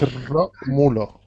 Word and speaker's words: Romulo: Okay, the R's are really, really rolled in like Spanish. Romulo. Practice. Okay. It's Romulo.